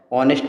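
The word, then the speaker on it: honest: ऑनेस्ट में हमेशा क्या होता है, एच जो होता है साइलेंट रहता है, इसलिए जो ये ओ है ये आवाज़ वॉवेल साउंड है, इसलिए इसके वजह से हम क्या लगाते हैं, एन लगाते हैं।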